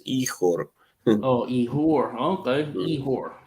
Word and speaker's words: Ihor: That's actually Igor, but they pronounce the G as H in Ukraine, so it's Ihor.